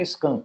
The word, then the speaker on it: skunk: duplo sentido aí é a gente não fala skunk é a pronúncia correta Skank é só que serve